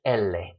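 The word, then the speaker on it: ele: The L is not le, it's elle, is the name.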